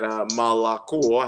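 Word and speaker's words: молоко: it, for example, and that malako has a and o. It has all O's, but and if the stress is on the O, it's pronounced O, but if there's no stress, it's pronounced A.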